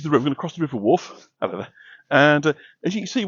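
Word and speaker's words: Wharfe: attractive bridge and we're crossing the river wolf that's spelled w h a r f as in wolfdale um which I'm sure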